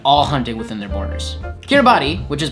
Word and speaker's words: Kiribati: hunting within their borders kiribati which is pronounced locally as kirabas is the best at